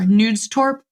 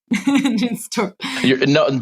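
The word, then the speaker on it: Knudstorp: Denmark and under, Cory, I pronounced it incorrectly earlier, Nudstorp. Under Nudstorp. Yeah, Jørn V. Nudstorp. Nudstorp. Danes are very well acquainted to everybody pronouncing it wrong, so don't beat yourself up.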